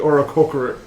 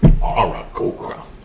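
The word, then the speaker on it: Aarakocra: the Oracocra. The Arakokra. Okra. It's pronounced. Arakokra.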